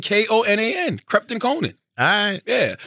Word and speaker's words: Konan: __ ] they are I know how you pronounce it crept koe PT and KO na n Krept and Konan alright